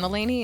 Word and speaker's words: Mulaney: Can I say John Mulaney and just really throw everybody off? Which one? John Mulaney. John Mulaney, the comedian? Yeah, only John because Mulaney said it that. rhymes with John Delaney.